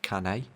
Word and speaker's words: Cannes: Like this won awards at like Cannes and that kind of thing. And I really don't understand why. It's pronounced Cannes.